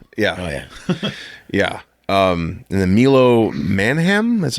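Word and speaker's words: Milo Manheim: And then Milo Manham, that's how you say his name.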